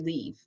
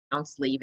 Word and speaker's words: Liv: So I go by Dr. Leave. My first name is pronounced Leave. It's a Scandinavian name. It has a unique pronunciation.